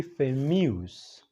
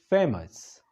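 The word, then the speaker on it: famous: هغې ته ویل کېږي فیمیوس. غلط تلفظ، غلط پرونسیشن ما د ډېرو خلکو نه اورېدلی دی. فیمیوس. دا فیمیوس نه دی، دا دی فیمس. فیمس. فیمس یعنی مشهورېدل. دا خو صحیح شو.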